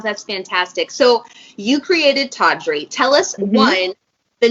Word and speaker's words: Taudrey: tea period Audrey but our customers just kept pronouncing tawdry that's the way that it would like roll off the tongue so we evolved drop the period and kept the name tawdry ah don't you love when